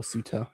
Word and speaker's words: Ceuta: But to bring it back to Ceuta or Ceuta, if you want to go with the English pronunciation, I've been fucking driven